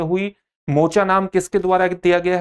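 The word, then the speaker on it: Mocha: मोचा नाम किसके द्वारा दिया गया है? मोचा नाम यमन से आया है और जिसका उच्चारण मोखा के रूप में भी किया जाता है।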